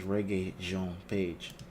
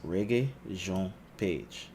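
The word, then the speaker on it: Regé-Jean Page: more reggae Jean page all right it says reggae Jean page okay but that's the pronunciation so I'm gonna go with that it says reggae Jean page nice nice all right so Chris Pine was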